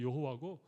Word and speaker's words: 여호와: 좀 더 구체적으로 뭐 이게 아도나이의 모음을 이 하나님의 이름에 갖다 붙여서 발음을 못하게 했고, 그렇게 못하게 하는 걸 억지로 발음한 것이 여호와고, 원래 히브리어를 제대로 발음하면 야훼 쪽에 가깝다, 그런 얘기도 합니다.